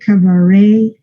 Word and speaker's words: cabaret: Todas estas palabras que vienen del francés se pronuncian así. Ballet, cabaret, el ballet parking, eso son A. Suenan A.